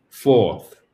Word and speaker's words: fourths: Donc, 2 fourths. 2 fourths. 2 fourths. Donc, vous avez le TH et en plus le S à la suite qui se prononce.